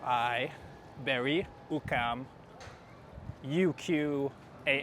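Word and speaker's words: Berri-UQAM: And we are currently at the uh Ber Ukam Metro Station which is spelled B E R R I Bry Ukam UQ A M.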